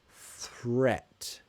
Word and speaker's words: threat: a moment yeah so also pronunciation threat I know it's a to sound so that's difficult try to say it with me threat threat say it slowly then say it quickly that might help threat yeah so yeah HIV